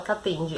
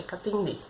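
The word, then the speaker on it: Katende: Não é Catende, é Catendê.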